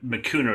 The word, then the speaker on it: Mikuna: point in time to go i had on my cuner is how you pronounce our name okay and i'm panicking because